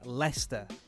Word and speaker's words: Leicester: And by the way, for non-English people, that word is pronounced Leicester.